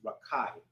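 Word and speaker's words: רקיע: so a firmament which in the Hebrew I believe is pronounced rakai so the firmament intent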